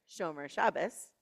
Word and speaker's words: Shomer Shabbat: Rabbi Lawrence Kushner says that Shomer Shabbat, or as it's more commonly pronounced around here, Shomer Shabbos, which means to guard